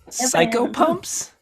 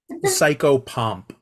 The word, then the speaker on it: psychopomp: Psycho pumps? Psychopomp. Oh, As in How like do you a spell that? psyche and a pomp as in a walk. like pomp and circumstance.